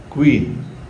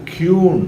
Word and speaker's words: QUEEN: இப்போ சில சமயத்தில் நம்ம க்யூன் அப்படின்னு சொல்லுவோம். யூ சேர்ந்து க்யூன், அது தவறான ஒரு உச்சரிப்பு.